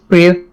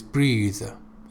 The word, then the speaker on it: breathe: It is breathe.